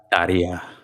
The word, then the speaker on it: Tarja: I was so sad when I call it Tarja, but I assume it is actually pronounced like Taya or something. Yeah, it's Yeah, Taria. yeah, You she. roll the R and it's like a Y sound.